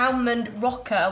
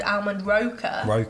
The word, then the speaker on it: Almond Roca: of so you know the almond rocker which i've now been told it's called almond roca i've never pronounced it